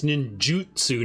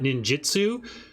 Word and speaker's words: ninjutsu: One of our regulars pointed out that it's ninjutsu, not ninjitsu.